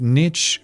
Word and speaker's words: niche: Batman pronounced niche correctly. It's not niche. It's niche. So I think niche is also acceptable.